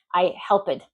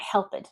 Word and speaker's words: helped: I helped. No, I helped. So you want to make sure you don't pronounce that ed, not unless the word ends in a T or a D.